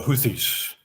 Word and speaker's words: Houthis: for people that don't know how do you pronounce hoi hot hodies the houthis those are yemenese Yemen they are a they